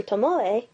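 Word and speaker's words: Tomoe: via a segment involving Professor Tomo yeah that's how you're supposed to say his name too chiosa actually introduces the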